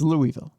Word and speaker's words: Louisville: I'm going to pronounce this city the correct way for the rest of this story. Don't try to talk to me like you people have had a stroke. It's Louisville.